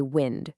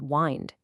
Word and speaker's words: wind: When it's a noun, we say wind with that short sound. You know, it rhymes with send.